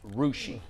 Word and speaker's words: Russia: story last week, and I pronounced it Russia, and we all thought like, wait, Russia? I've never heard of Russia. I later found out that it's pronounced Rushi.